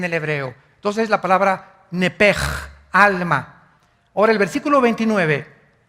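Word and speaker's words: נפש: Entonces se pronuncia nepj.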